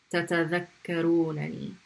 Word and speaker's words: تتذكرونني: And here you're pronouncing, that noon, okay, with a fatha. تتذكرونني.